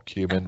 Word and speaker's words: cumin: My favourite spice is cumin or cumin, whichever way you want to pronounce it.